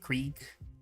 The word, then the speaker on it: Krieg: Krieg.